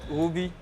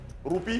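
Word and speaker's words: roupie: Ruby. Ruby. Pourquoi? Prononcez bien. Ruby. Prononcez bien. Ruby. Ruby. Whoopi, whoopi. Roupi.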